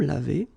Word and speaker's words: lavés: Nous nous sommes lavés. So remember, final S is not pronounced.